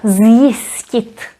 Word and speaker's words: zjistit: So here we pronounce it as z, zjistit.